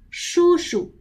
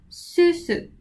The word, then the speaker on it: 叔叔: Again, 叔叔 should be 叔叔 with twisting tongue, not 叔叔 with flat tongue.